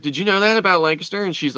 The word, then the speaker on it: Lancaster: like Lancaster and a lot of people say Lancaster the proper Pennsylvania pronunciation is Lancaster Lancaster Lancaster I just don't I just don't